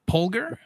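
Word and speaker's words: Polgar: Pular. Pular family. Oh. Oh, thank you. How do you spell it?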